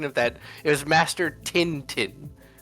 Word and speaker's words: Tintin: I I probably uh the the pronunciation of that it was master tintin.